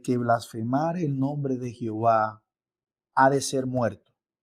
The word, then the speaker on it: Jehová: divino y su pronunciación ellos introdujeron las vocales Adonai dentro del tetagam matón recuerde que son y H W le incorporan las vocales de adonay y for el nombre Jehová pese a todos lo